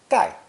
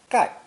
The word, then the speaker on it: 丐: The combination is pronounced fourth tone, gai, gai.